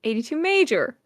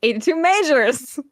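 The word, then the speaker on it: 82MAJOR: Let's only go back a bit in time for 2023 with Even and 82 Major. Or as we love to call them, 82 Majors.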